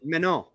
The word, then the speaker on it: Manon: It's Manon. pronounced Manon.